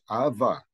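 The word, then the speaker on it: ⲁⲃⲃⲁ: So the word here that we have a vita followed by a vita, that means followed by a consonant, but here we pronounce it as ava.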